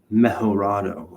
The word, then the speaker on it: Mejorado: It was Mejorado. I think I said, I didn't say it like that.